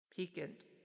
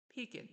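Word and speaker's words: piquant: L Google p pronunciation peakant peakant is that it interesting it's like pean but not pant where was I I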